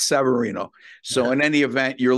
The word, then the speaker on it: Severino: And with Severino, Chip calls him Severino. I call him Severino. Anyway, whatever, potatoes, tomatoes, whatever you want. It must be a mispronunciation on my end, believe me. Yeah, it's Severino.